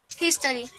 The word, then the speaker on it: history: History. History, muy bien. History, ¿listo? Tenemos que volverla casi una J, pero no tan J, ¿listo? A 90% J, ¿listo? Un 90% de J, el resto es un sonido aspirado.